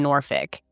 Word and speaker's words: Norfolk: There are people who say Norfolk, or some people say Norfolk, which that's how I, immediately wanted to say it just by how it's spelled. But I think for the most part, most of the coverage that I've seen, people are saying Norfolk. So I'm going to go with Norfolk, and I'm sorry if